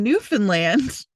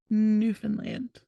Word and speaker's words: Newfoundland: In Newfoundland, keeping cows in your house. What if they're cold? Right? Wait, say that place again. Newfoundland.